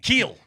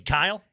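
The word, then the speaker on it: Kiel: If I told you a guy's name was spelled K I E L, what pronunciation are you giving me? Keel. Thank you. Was he Kyle?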